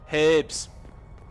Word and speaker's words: herbs: throw I'll take herbs herbs got to pronounce the H it's it's not herbs it's herbs okay so